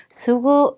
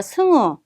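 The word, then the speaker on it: すぐ: 그리고 여러분들이 보통 이제 들으실 때 수구라는 발음이 청취로 들을 때는 수구 이게 아니라 승우 이렇게 해서 약간 코 비음 소리로 난다는 것도 같이 기억해 주세요.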